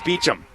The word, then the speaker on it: Beauchamp: alive down a cronkite for mispronouncing Beauchamp it's Beecham it's Beachum I don't know poor Shaun